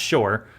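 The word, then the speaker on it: שׁוֹר: an ox and this word for ox is shor in the hebrew the way it's rendered in english it's s-h-o-w-r it's pronounced it's pronounced shor but it's it's a word that means an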